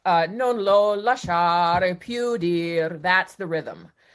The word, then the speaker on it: lasciar: It doesn't seem like a hard word, but lasciar is actually a hard word because the accent is on the second syllable. And people who maybe don't have a lot of facility in Italian or not Italian tend to say lasciar instead of lasciar.